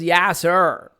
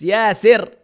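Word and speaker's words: ياسر: What in the world is Yasser? It's Yasir. It's an Arabic word.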